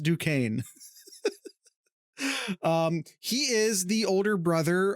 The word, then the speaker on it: Duquesne: I've lived close enough to Pittsburgh to know that is pronounced Duquesne.